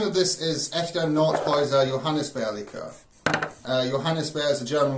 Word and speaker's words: Johannisbeere: Right, well, the name of this is Echter Nordhäuser Johannisbeere Likör.